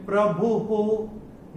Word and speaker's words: प्रभुः: अभी ये भ पे जो विसर्ग आ रहा है चरण की समाप्ति पे आ रहा है, तो इसका उच्चारण केवल और केवल ह ही होगा। तो कैसे होगा, लोकस्य सृजति प्रभुः, ये ऐसे करके होगा।